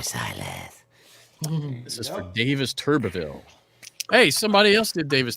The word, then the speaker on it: Turbeville: Hey, somebody else did Davis Turbeville earlier, right? Yeah. But See, you- not Turdville. But you said Turbville. Well, I know if it's Turbeville or I could. I think there's an extra syllable in there.